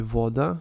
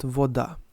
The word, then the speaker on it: voda: Now, the stress usually follows on the first syllable in Serbian language. It will be voda, not voda.